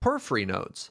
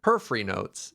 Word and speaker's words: Porphyry Nodes: We're going to talk about Porphyry Nodes. How'd I do with the pronunciation there, by the way? That's pretty good. Mm-hmm. Nailed it. Porphyry? Porphyry Nodes.